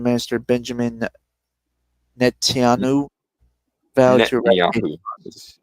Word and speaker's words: Netanyahu: Israel retaliated, and Prime Minister Benjamin Netanyahu vowed to Netanyahu is how it's said.